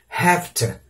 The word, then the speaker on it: have to: Mas na obrigação não, ele é pronunciado no have como um F, have to, has to, ok?